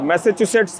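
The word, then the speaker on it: Massachusetts: institute of technology तो उच्चारण में बहुत दिक्कत होती है कई लोगों की लेकिन आप मैसाचुसेट्स बोल सकते हैं और अगर आप स्पेलिंग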